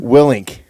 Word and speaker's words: Willink: Willink.